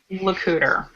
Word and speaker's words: LeCouter: pronounce your last name it is pronounced Luder like Xander I have ties to